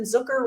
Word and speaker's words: Zucker: Compliments of Jason Zucker rhymes with hooker from the top of the circle.